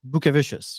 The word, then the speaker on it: Bukevicius: Is it Bukevicius? I'd say like an American version is it's Bukevicius. Yeah, that's probably the best way to pronounce it.